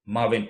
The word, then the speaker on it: Maven: You're saying Mavin. Ma like this. Ven.